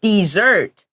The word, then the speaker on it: dessert: r t yeah also the pronunciation is different say dessert for the sweet food and desert for the the the place that is very hot yes so that's a